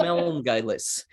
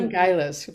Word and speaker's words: Melngailis: Emilis So Melngailis. Melon Meln Gailis, very good.